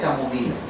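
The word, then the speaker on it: chamomilla: Che o como sea la ch se pronuncia como K entonces matricaria camomila muy bien Yo ya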